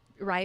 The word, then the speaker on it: RIE: I don't think I've ever shared this on the podcast, but I actually I'm doing rye parenting, so I'm taking these rye classes.